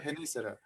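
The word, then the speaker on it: Genízaro: It's called Genisaro, all right? Am I pronouncing Uh-huh. it correctly? Yeah, Genisaro.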